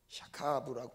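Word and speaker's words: שכב: 샤카브라고 발음을 하는데요, 이게 이런 의미죠.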